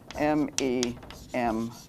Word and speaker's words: memes: Memes is spelled M-E-M-E-S and pronounced memes.